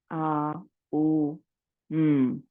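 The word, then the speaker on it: Aum: today let us chant the M split up into three syllables a u m the aara with your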